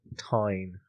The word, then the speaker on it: Tyne: Tyne and Kim. Tyne. Tyne. Do it again. Tyne. What? Like Newcastle upon. Yes. Oh right. Spelled the same way.